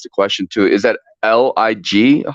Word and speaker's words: Lig: question too is that l-i-g how do I pronounce how do I say your name sir like life is good that's Lig okay life is good